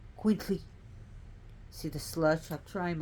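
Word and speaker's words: itzcuintli: i so it be it's Queen sorry it's quintly see the slush I'm trying my best so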